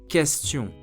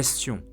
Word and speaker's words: question: Yet while in English, QU is pronounced quoi, as in question, in French it is pronounced simply as K, question, like the letters K or C. Let me repeat it again. K, question.